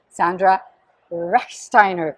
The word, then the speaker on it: Sandra Rechsteiner: Today as my guest, I have a dear friend and very, very special person, Sandra Rechsteiner.